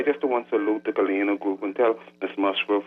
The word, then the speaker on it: Galena: That's the Galena group of companies.